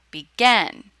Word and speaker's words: begin: so happen becomes happening but if the stress is on the second syllable begin then you must double